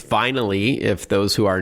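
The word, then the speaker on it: Vinyly: It's vinally. If those who are not driving want to jot this down, it's V I N Y L Y. So, like vinyl with an extra ly at the end.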